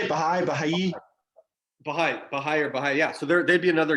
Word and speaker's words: Baha'i: Baha'i.